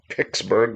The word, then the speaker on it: Pittsburgh: The people in Pittsburgh call it Pixsburg. Like now you know. Like picking at something.